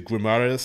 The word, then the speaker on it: Guimarães: Latched on to Guimarães, I believe is pronounced, for a few years.